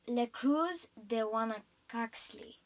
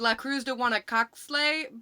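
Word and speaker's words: La Cruz de Huanacaxtle: Mom, it's La Cruz de Guanacaxli. Oh, okay. Well, yeah, that one. Oh my gosh. I used to think of it as La Cruz de Guanacaxle, but that's not how you pronounce it.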